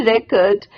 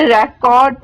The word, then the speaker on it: record: In which of his poem does he record his impression of a manufacturing district of northern England? अब ये record नहीं है, record बोलते हैं इसको।